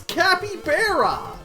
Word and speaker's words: capybara: It's Capybara! Summer, that is how it's pronounced.